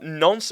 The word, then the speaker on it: Nantes: How do you pronounce this? Nantes? Yeah, Nantes. Okay. Don't overcomplicate it. Nantes.